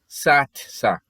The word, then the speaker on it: satsa: want to say that the mail word for you is satsa satsa it's spelled is a tsa satsa and the female word